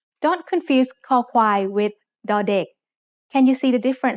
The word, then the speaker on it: ค: คอควาย makes the sound k when it's the initial consonant in a syllable. It sounds like the letter K in kite or the C in cup.